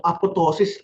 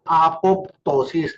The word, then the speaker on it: apoptosis: Uulitin ko ha nung bata ako, apotosis silent Pong later alam ko pala apoptosis this is program cell